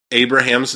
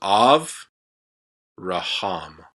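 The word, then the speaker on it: אברהם: So this is Av Raham. Av Raham is how you say that. So we pronounce it Abraham.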